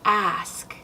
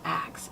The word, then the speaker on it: ask: But again, if you start with one, make sure it's ask. Ask your friend if they've ever heard you say ask in a different way, such as ax. And then maybe ask them to point out to you when you've said ask correctly, and also point out when you might still slip into ax.